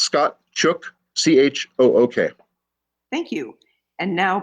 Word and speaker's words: Chook: Sure, it's Scott Chook, C-H-O-O-K.